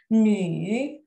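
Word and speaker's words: 女: nini-nini perempuan nih perempuan hati-hati ketika kita membaca uh yang ada titik 2-nya ingat kita membacanya menjadi nih ya kita membaca ini karena anda titik2nya di atasnya ia jadi bacanya bukan uh Tapi bacanya nih perempuan ya Jadi ada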